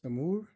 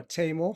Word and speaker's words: Taimour: So my name is Namur the original pronunciation or tamo which is anglicized way you can call me